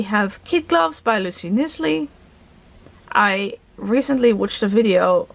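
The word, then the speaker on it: Knisley: Kid Gloves by Lucy Nisley. I recently watched a video of someone on BookTube, and that person pronounced it Lucy Nicely, and actually that makes so much more sense to me than Nisley, so I apologize.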